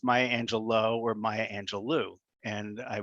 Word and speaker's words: Angelou: but ask yourself beforehand is it angelo or angelou now that you've voted hello my name is maya angelou it's a very beautiful